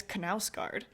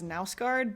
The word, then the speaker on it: Knausgård: the first of the Knausgård My Struggle series. Apparently you do say it as Knausgård, which in my brain, I would pronounce that as Nausgård, but you say the K.